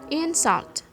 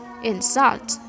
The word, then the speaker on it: insult: Ketika dia jadi noun, maka stresnya ada di silabel yang pertama. Insult. Ketika dia menjadi verb, stress placementnya ada di second syllable. Jadi insult. Something like that.